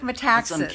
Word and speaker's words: Metaxas: let me try again Eric Metaxas is that right that's exactly right Eric Metaxas Danny I have figured out how to say his name right but that's not what's